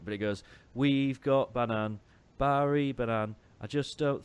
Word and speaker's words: Bannan: part of the lyrics, it's Barry Banan in the way that we have have pronounced his name correctly, I might add, all through this season. And then at the end, they change it back to Bannon.